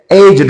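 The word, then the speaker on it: aged: ए जी ई डी इसकी pronunciation आप एज नहीं कहेंगे। जब आप एडजेक्टिव की बात करेंगे वर्ब के तौर पर ये एज्ड है। लेकिन जब एडजेक्टिव के तौर पर ये इस्तेमाल होगा तो ये इसकी वजह होगा एजिड। ये है एजिड।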